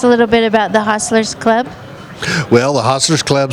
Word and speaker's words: Hostlers: HOSTLERS is how you say this, right? Not hustlers. Yeah, HOSTLERS.